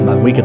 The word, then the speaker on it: Mavuika: This is a short and sweet guide on Mavuika, or Mavuika, that's how you say it, going over her weapons,